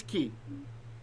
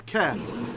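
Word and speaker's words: כי: Ki, what's ki? Like. Ki? Like. No, that's ke. That's ke. This is ki. Ki with a yod.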